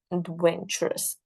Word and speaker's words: adventurous: need to understand when we say adventurous that Ed Ed takes a secondary stress Ed but venturous venturous so the venturous the when while the second syllable will take the what yes correct the primary stress so first is the